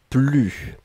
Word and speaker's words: plus: ensuite plus et là on ne prononce pas le s ne plus d'accord je n'en avais